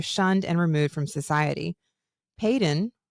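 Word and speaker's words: Paedyn: and removed from society Peyton that's how you say it no you say it with confidence and I love that we're gonna roll with it then Peyton it's it's spelled like P AE d y n Peyton feels good Peyton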